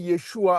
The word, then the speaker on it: Yeshua: Par exemple, lorsqu'on écrit Yeshua avec un U, le U est prononcé OU.